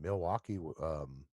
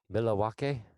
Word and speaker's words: Milwaukee: illinois' I don't know Milwaukee yeah meet Lee walk' I believe is actually how the natives pronounced it but somebody I only